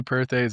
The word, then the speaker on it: Perthes: I say Perths. A lot of people say Perths.